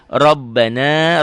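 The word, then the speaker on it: رَبَّنَا: Rabbana, ro-nya tebel, ba-nya double, na, matobi, la, matobi, tu'a.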